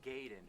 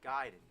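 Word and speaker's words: Gaiden: Everyone always said ninja gayen, but I know for a fact it's Giden.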